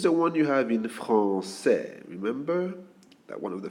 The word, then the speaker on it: français: It is the one you have in français. Remember? That one of the first words you learn. Français. Okay? If we don't have this word, this little hook, the pronunciation is different. It is franquais.